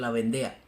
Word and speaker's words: Vendea: horrenda masacre anticatólico de la vende o como se dice en español La vendea pero a mí me